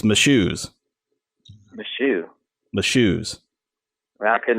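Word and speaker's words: Mashoes: I just spelled it of course you just got to think my shoes those are my shoes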